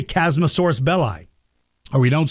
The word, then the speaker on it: Chasmosaurus: yeah see um so there's nothing wrong I pronounce it chasmosaurus it's name is spelled c h a s m o s a u r u s chasmosaurus chasmosaurus uh I just pronounced it chasmosaurus